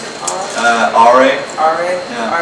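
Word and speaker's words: Åre: I read basically about how you grew up in how do you pronounce it? RA. RA? Yeah. RA, Sweden.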